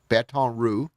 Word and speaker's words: Baton Rouge: Baton Rouge, like the roux that you put in to make the sauce.